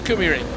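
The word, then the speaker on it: KymiRing: Here comes the Finnish pronunciation bus. Yeah, he came past his little scooter and he said, "It's Kumi Ring."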